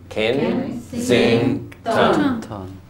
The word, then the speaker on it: Kensington: What about Kensington? 3. So Kensington. Kensington.